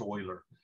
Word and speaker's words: Euler: a mathematician by the name of leonard mueller's pronounced euler but when you see it in the uh